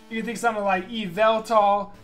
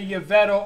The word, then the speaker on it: Yveltal: You can think of something like Phanpy, you can think of something like Yveltal, people say Yveto, all kinds of stuff.